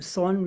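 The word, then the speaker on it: Seon: of the teachings of the very great Korean song Master son is the way it Zen is pronounced in Korean as Chan is the way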